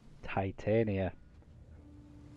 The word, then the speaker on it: Titania: your oberon huh titania well titania a well-known pronunciation from shakespeare since you're getting all